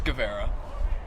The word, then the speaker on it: Guevara: okay yeah yeah you want your last name pronounced correctly it's guevara you know i have a little bit of